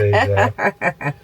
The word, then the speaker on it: deedar: Because we say, oi, D. It's not that pronounced though, is it? It's like... It's very subtle. Like a D. There's a D in the sound, and that's where that comes from.